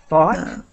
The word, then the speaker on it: thought: help you with thought thought um yeah I I hope that people see that the I'm trying to the pronunciation is like the word hot but with th thought thought thought so